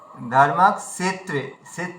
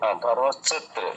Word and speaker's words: ধর্মক্ষেত্রে: সাবিত্রী এই ভুলটা হয়েছিল ধর্মাকত্রে বললে দন্তস হয়ে গেল মূর্ধায় উচ্চারণ ধর্মাকত্রে সে সে ধর্মত্রে সে সে ধর্মত্রে না মুর্ধাশ এর উচ্চারণ করো সে ধর্মক্ষেত্রে ধর্মক্ষেত্রে দন্তসয়েরই উচ্চারণ হয়ে